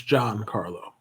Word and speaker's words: Giancarlo: It's John. It's not John because in Spanish, there's no he himself will tell you it's John. What the fuck are you talking about? The case really just actually Giancarlo Stanton. Bro, my man is arguing the pronunciation of another man's name. That's insane. You can say it shouldn't be pronounced John. It shouldn't be because if you read the Spanish alphabet, the G is not pronounced that way.